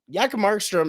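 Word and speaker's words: Jakob Markström: Jakob Markstrom, as they used to call him when he was first drafted, the J is silent, has been a fantastic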